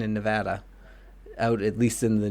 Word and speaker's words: Nevada: Um, and but yeah, it's uh like Oregon and Nevada out at least in the New England Northeast area, we usually call it Oregon and Nevada, but I was I was learned that it's Oregon and Nevada.